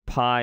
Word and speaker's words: pi: And the pi is pronounced like the English American P, like a p sound.